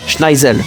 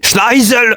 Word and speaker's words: Schneizel: On découvre que celui qui a donné l'ordre de tir est le second prince de Britannia, Schneizel. Pardon, j'ai mal prononcé. Schneisel.